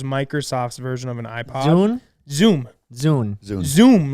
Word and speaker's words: Zune: Zune? Zoom. Zune. Zoom, like Zoom. Zune. Oh, it was a No. Zune? It's Zune, like Dune with a Z.